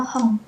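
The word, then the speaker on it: 本: Hong pakai eng jadinya. Heeh. Walaupun hiragananya N tetap N ya takhirannya. Iya. Heeh. Tapi untuk pelafalannya kita hatwong-nya kita latih hong gitu. Hong. Hong. Oke. Hong. Koran N ini seperti N ini. Jadi bacanya M simbung gitu. Di akhirnya ng.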